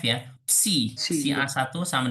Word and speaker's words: psi: Oke, pertama akan dibuktikan bahwa psi, psi itu bacanya ya PSI ya, tuh.